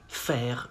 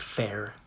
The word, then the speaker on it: faire: You say, faire une grimace. Not grimace, not faire. Faire.